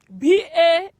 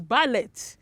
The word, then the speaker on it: ballet: what affidavits yes that's it the second word b-a-l-l-e-t was the correct pronunciation the word is not pronounced as ballet it is ballet yes that is the pronunciation